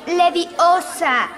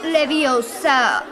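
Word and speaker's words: Leviosa: ojo a alguien además no se dice así es Levi Osa no le di Us hoy la pequeña ya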